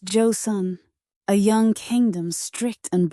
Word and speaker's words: Joseon: The Josan dynasty has begun. Pronounced Joe Sun.